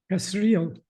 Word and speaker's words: Kasriel: Reb, what's the pronunciation of the name? Kasriel. Kasriel, I was right.